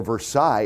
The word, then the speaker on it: Versailles: the front I hit Versailles Road or Versailles as I kept telling everybody to pronounce the game in from